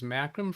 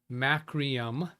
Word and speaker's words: Macrium: I was able to use macrim free macum. Who taught this guy English? Macrium. He spelled it right. I pronounced it wrong.